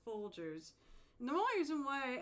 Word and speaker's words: Folgers: Yeah, because you put a hard G in it instead of a soft G, but it's Folgers.